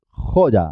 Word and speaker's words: joya: Joya, así es, joya. Jo y la Y como una Y, consonante. Jo ya, porque empieza sílaba.